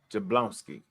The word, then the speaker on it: Jablonski: of our favorite persons Jina Nina jablonski yeah jablonski I already say her name wrong no I do you just did it